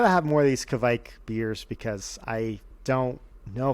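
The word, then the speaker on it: kveik: pecan thing i gotta make sure i'm pronouncing this right kevik yeah i remember now all right so um yeah i got to have more of these kavik beers because i don't know if i can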